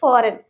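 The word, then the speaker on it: foreign: Okay, next है हमारा फॉरेन। फॉरेन, इसमें भी एन से पहले जी आ रहा है तो मतलब इसे हम जी को नहीं पढ़ेंगे, वहां पे जी हमारा साइलेंट होगा। ठीक है, फॉरेन।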